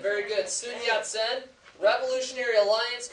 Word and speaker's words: Sun Yat-sen: How do you pronounce this again? Sun Yat-sen. Very good. Sun Yat-sen.